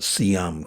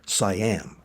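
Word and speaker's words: Siam: the inner Cambodia era of Sam control or as westerners often pronounce its cyam.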